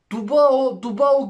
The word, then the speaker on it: Dubois: Normalde Dubois diye yazılıyor. Dubois falan diye de okunmuyordu bunun ismi. Dubao gibi bir telaffuzu vardı.